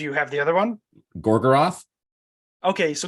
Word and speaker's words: Gorgoroth: siruth and do you have the other one gorgoroth okay so gogroth but there's a third one what is it